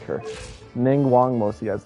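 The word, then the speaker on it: Ningguang: And by the way, you pronounce her name Ning Wang.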